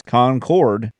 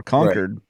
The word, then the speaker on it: Concord: so it's whether it's Concord which is the English like the queen's English version or conquered which is the northeastern version of Concord I prefer conquered because